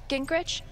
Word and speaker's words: Gingrich: my girl hey steph missed you steph uh gingrich is that how you say it yeah that's